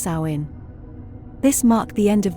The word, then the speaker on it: Samhain: with the ancient Celtic Festival of Samhain pronounced sain this marked the end